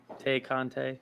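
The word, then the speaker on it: Tay Conti: tay kante is it is it like like thai content i think it's tay it's t-a-y i know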